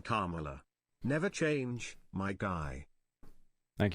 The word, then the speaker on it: Kamala: not mispronouncing things, but you slaughtered the name Kamala. Never change, my guy. Thank you, Slup, for the 10. I said Carmela Harris.